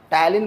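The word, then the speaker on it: ptyalin: টায়ালিন বানানটা আবার দেখো পি দিয়ে শুরু, ঠিক আছে?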